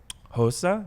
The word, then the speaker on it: Xhosa: problem is pronunciation but it's Xhosa it's it has that click it's a South African